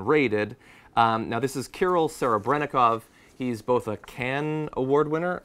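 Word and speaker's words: Kirill Serebrennikov: locations have been raided um now this is kol Sarah brov he's both can Award winner I'm not familiar that much with the did I pronounce that correctly yeah yeah okay I don't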